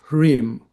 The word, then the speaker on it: Hreem: And we should also here remember the mantra of the spiritual heart, which is Hreem. You can spell it phonetically, H-R-E-E-M.